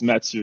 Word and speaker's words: Mathieu: Matthew? Is it Matthew? That's really cool how it's spelled. Yes, but it's the French version of it's Mathieu in French, so it's okay.